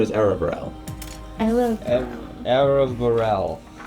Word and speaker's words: Aravarel: My name is Aravarel. I love Aravarel. It's spelled A-R-A-R-V-A-R-E-L.